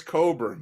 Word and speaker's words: Cockburn: I know it's Coburn, but I see Cockburn. I don't know. How do you get Coburn out of that? The K is silent.